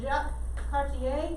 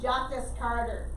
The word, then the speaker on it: Jacques Cartier: so does he mind if this the french pronunciation it does get a little bit weird so jacques cartier they don't call them jackets carter okay i know that's how it looks in